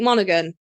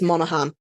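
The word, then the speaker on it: Monaghan: we got Elijah Wood Dominic monogan and that's not how you pronounce that I think it's Monahan okay John re Davis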